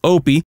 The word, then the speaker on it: Opie: My character’s name, Opie, rhymes with dopey… I'd have to get into fights with people."